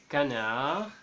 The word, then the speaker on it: canard: La lettre D muette au final des mots qui finissent en ar, en, ou, on et ur. Par exemple, canard, gourmand, chaud, fond, nord et sur.